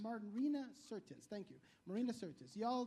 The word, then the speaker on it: Marina Sirtis: Is, you and Martina Sirius? I don't know how to try to pronounce Martina? it. Yeah. Martina Navratilova? No. You talk Troy. about Marina Sirtis. Marina Sirtis.